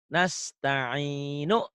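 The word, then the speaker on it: نستعين: Iyaka i iyaka iyaka na'budu wa iyaka nasta'inu. Dihentikan jadi nasta'in.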